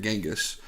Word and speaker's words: Genghis: genghis khan oh so his name is actually chingus khan but i guess through americanization or whatever it ended up being genghis rough translation yeah something